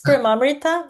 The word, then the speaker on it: Premamrita: Per You can say Prema, it's fine. If it Prema? makes it easier, it's Premamrita, but can say Prema.